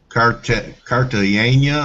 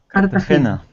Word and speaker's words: Cartagena: Yeah, Cartagena. How do you say it? Cartagena. Yeah, Cartagena.